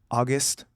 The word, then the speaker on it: August: And you were like, "August."